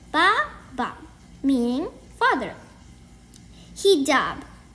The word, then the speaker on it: hijab: Hijab. It's pronounced like he-jab.